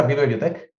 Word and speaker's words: vivebiotech: vive biotec por cierto se pronuncia vi biotec biotec tal cual tal cu e pero claro hace hace